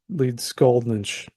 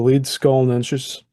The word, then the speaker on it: Leedskalnin: of meanie and Andreas lead scalin a word meeting from the mountains the lead skull NES the laian words usually place the accent on the first syllable and the NS ending is pron with what